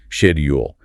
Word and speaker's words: schedule: We mentioned schedule earlier. Yes. Ame typically uses a hard sex sound at the beginning. Schedule B re often uses a softer shay sound. Shedule. That initial sound is quite distinct.